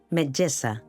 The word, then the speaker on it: metgessa: Si ho heu fet bé, haureu notat que quan pronuncieu la essa de <i>casa</i> el coll vibra, cosa que no passa a <i>metgessa</i>.